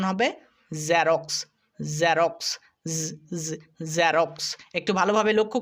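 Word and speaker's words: Xerox: একটা বিন্দু যুক্ত করি যেটা জেড এর সাউন্ড এটা কিন্তু বর্গীয় জ এর সাউন্ড নয় যেমন আমরা অনেকে বলি জেরক্স কিন্তু এটা জেরক্স না এটা উচ্চারণ হবে জেরক্স জেরক্স জেরক্স একটু ভালোভাবে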